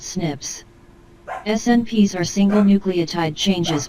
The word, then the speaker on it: SNPs: involving single nucleotide polymorphisms snps pronounced snips snps are single nucleotide